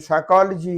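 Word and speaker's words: psychology: वो अल्फाज जिनमें लेटर पी साइलेंट है, जैसे यहाँ पे ये साइकोलॉजी है तो इसमें पी साइलेंट है।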